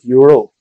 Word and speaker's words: URL: Whatever you do, don't pronounce URL as, because that's my name. It's pronounced URL.